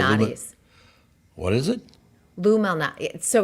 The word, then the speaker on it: Malnati's: Lou Malnati. So it's Lou, but it's like it's Malnati.